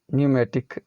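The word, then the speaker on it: pneumatic: यहां पर यह है P N-you M एस टी आई सी न्यूमेटिक pick कि यह न्यूमेटिक फिल्ड विद एयर हवा से वरना ऐसा इसका अर्थ है तो इन सभी में पीस साइलेंट होता है साइकोलोजी निमोनिया लाइक ऊ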